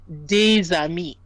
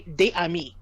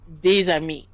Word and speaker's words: des amis: And it's the idea that you have a word where usually the final consonant is silent. But when it's followed by a vowel, you will pronounce that final consonant.